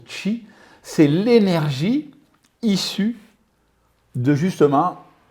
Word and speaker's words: qi: Le qi, c'est l'énergie, parce que oui, effectivement, on prononce qi, c'est l'énergie issue de justement le sang.